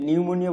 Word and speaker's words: pneumonia: নিউমোনিয়া বানানটাকে একটু দেখো, পি দিয়ে শুরু কিন্তু, ঠিক আছে? পি দিয়ে তারপরে নিউমোনিয়া, PNEUMONIA, এটা ঢাকা বিশ্ববিদ্যালয়ের স্পেলিং এ আসতে পারে।